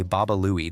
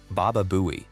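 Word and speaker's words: Baba Looey: He's trying to say Baba Louie, the name of the cartoon donkey. He mispronounces it. Baba Buouie.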